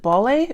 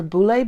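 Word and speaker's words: Baule: how to say this is it ballet or boule brass it's b-a-u-l-e i think that's what it is um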